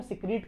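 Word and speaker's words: caeca: सीका इसका pronunciation सिका होता है।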